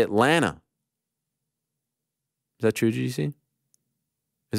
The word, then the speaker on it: Atlanta: now by the way stop pronouncing the second T in Atlanta we say Atlanta is that true juicy